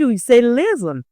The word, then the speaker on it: listen: Listen the T is silent. We don't say listen. Instead we say listen.